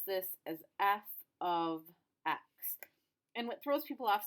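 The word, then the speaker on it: f(x): that's the symbol for a function and we pronounce this as f of x and what throws people off sometimes is you've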